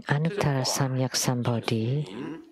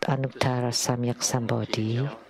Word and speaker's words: Anuttara Samyak Sambodhi: The so-called Anuttara Samyak Sambodhi is the way I pronounce it is the way my mom pronounced it. This is in Taiwanese.